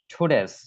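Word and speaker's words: today's: ইম্পোসিং উচ্চারণ খেয়াল করবেন এটা আমরা টু বলে থাকি এটার উচ্চারণ ট দিয়ে উচ্চারণ করে থাকে এটা এটা ট দিয়ে উচ্চারণ না এটার উচ্চারণ হবে ঠেয়ে টুডেস টুডেস আমার সাথে রিপিট করেন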